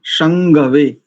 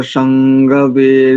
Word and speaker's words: शंगवे: यहां पर अनुस्वार को ग क ख ग घ ग शंगवे।